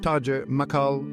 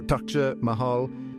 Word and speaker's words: Taj Mahal: The Taj Mahal, pronounced Taj Mahal or Taj Mahal, is an ivory-white marble mausoleum situated on the right bank of the river Yamuna in Agra, Uttar Pradesh, India.